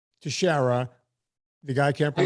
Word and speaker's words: Teixeira: I'll say, Teixeira. And then I go through the painstaking, it's spelled TEIX.